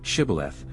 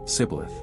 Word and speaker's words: Shibboleth: If identified as Ephraimites, they were asked to pronounce the word Shibboreth. However, due to their Egyptian heritage, they could not pronounce it correctly, using the form Sibboleth.